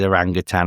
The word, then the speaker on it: orangutan: It is orangutan, and I didn't know until orangutan. Is it? Yeah. I thought it was tang.